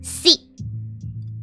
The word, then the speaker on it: sí: Yes is said sí. Sí is written S and E. E as in this E, not your E.